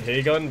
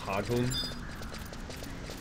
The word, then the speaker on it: Hagun: You know, I call it the hay gun, but it's actually pronounced Hagun. It just sounds cooler when you say Heygun. Because Heygun would be spelled H-E-I-G-U-N, right? But it's spelled H-A-G-U-N.